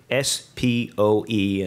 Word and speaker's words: SPOE: The FDIC has suggested that it would do this through a process it calls Single Point of Entry, SPOE, and which I will pronounce as SPO.